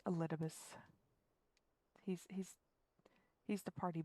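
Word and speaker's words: Elidibus: a little bit i i thought for a while his name was supposed to be pronounced eli divis but no it's elitibus he's he's he's the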